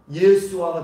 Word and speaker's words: 예수아: 이것이 히브리식 발음으로 가면 예수아가 되는 거예요. 예수아. 예수아가 우리가 잘 알고 있는 여호수아. 그런 발음이 되는 거예요.